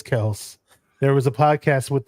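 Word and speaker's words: Kelce: manto man coverage on he likes to say Kel uh instead of Kelsey the original way to pronounce their last name is Kel there was a podcast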